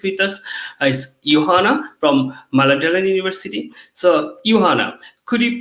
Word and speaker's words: Mälardalen: The pronunciation of Mälardalen University is a bit tricky. You could say Mälardalen. That's fine.